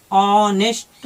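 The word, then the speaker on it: honest: और भी है जैसे ऑनेस्ट, तो है तो H से शुरू, लेकिन इसको हम पढ़ते हैं ऑनेस्ट बोलते हैं इसे।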